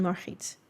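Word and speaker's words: Margriet: But I was like, if you want to know how they would be pronounced in Dutch, it would be Ulana, Batrix, and Marit.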